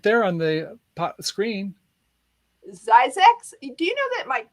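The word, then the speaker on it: Zzyzx: of the story how do you say it's pronounced look it says right there on the screen zyzax do you know that mike zeiss is actually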